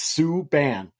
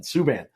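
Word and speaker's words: Subban: to say it and it's Sue Ban like s-o-o-b-a-n suban so I was trying to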